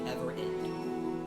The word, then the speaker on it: Everend: It's actually just spelled like ever end.